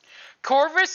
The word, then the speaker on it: Corvus: Corpus all you want it's actually it's like core bus but I keep saying it wrong because that's how I read it the first time that's how my brain